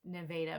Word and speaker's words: Nevada: from Nevada Missouri and yes the town is pronounced Nevada Missouri my grandmother even calls her state Missouri